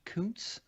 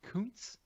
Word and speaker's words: Koontz: it again aaron b koontz yeah you you lean into it and you're like way over pronouncing the o yeah like you're so interesting your mouth is like rounding around the o yeah i it's so